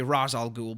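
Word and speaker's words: Ra's al Ghul: is a racial ghoul or and I know some people say razal ghoul but I think ra is more correct. I'm pretty sure they've already said before that that is the proper pronunciation.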